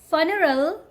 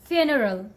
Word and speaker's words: funeral: fracture fracture this one don't call it funeral okay the correct way to say this word is funeral funeral not funeral okay this one quite